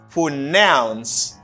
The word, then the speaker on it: pronounce: to say the verb the verb you say for nouns and the stress is in the second syllable i say for nouns for nouns for nouns for